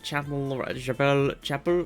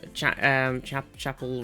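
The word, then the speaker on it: Chappell: Literally the girl that Chapel. How do you actually pronounce Chapel Roan's name? Because I don't really know anything about them. I know everybody loves them, like church, like chapel.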